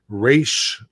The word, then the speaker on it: Ra's al Ghul: Batman Begins called him Ra's al Ghul. I think it's one of those tomato things. That's a different pronunciation though. That's not Rays or Raz. It's Raish or Raz. That's a different sound.